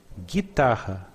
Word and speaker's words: guitarra: Guitarra, we do not pronounce the U.